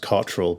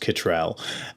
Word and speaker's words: Cottrell: Well, whenever I'm in America, my surname over here is pronounced Cottrell, but in America it's pronounced Kittrell.